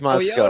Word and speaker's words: Moscow: Paul's in Moscow, not Moscow. It's pronounced Moscow.